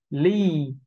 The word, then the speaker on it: lead: Chúng ta thấy mặt chữ là Ea nhưng phiên âm thành âm y hai chấm, và chúng ta đọc là ly. Chúng ta nhớ là có dấu hai chấm thì chúng ta cần phải kéo dài ra đối với những âm y như thế này.